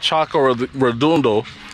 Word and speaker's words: Charco Redondo: There's an area called Charco Redondo, so I said the name wrong, that basically you'll find